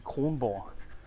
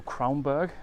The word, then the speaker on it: Kronborg: The Danish pronunciation would be Kronborg. So Kronborg, I guess, would be the English way to pronounce it.